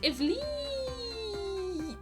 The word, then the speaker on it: Ivleet: just Wolf's in katakana and his name is pronounced is Li Digimon story lost evolution has quite possibly the